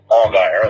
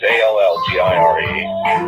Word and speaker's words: Allgire: All right, and I am reminded by the man himself, Dick Allgire, and that's not the way to pronounce it. I know it's Allgire, who is a news anchor in Hawaii.